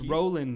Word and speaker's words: Roland: Um, very strong, good agility, and it's Roland, not Ronald.